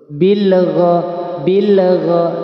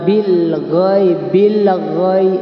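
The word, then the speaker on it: بِالْغَيْبِ: Seperti menambah huruf. Bilgha. Nah, itu tidak boleh. Bilgha yu'minuna bil ghaib. Nah, itu tidak boleh. Itu namanya tawallud ya. Bagaimana bacanya? Ya biasa saja. Bil ghaib, enggak usah ditambah dengan bil ghaib itu salah.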